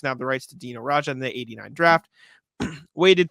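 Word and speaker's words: Dino Rađa: Or is it Dino or Dino Raja? Dino Raja. I said it right.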